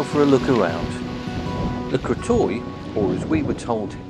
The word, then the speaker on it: Le Crotoy: watered let's go for a look around the crto or his we were told it's pronounced lto is a small fishing Village on the bay